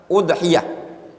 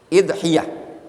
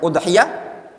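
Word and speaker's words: أضحية: Udhiyatun bi dhammil hamzah, dengan mendhammah hamzah, udhiyah. Wa kasriha, boleh juga di kasroh dan juga di kasroh. Bagaimana kalau di kasroh bacanya? Idhiyah. Boleh bacanya udhiyah, boleh bacanya idhiyah. Wa jam'uha adhahi.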